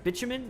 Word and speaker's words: bitumen: oil sand you need what is that the by two men is that how you say it how do you say that by two men extractor bitumen yeah bitumen extractor take you get that extractor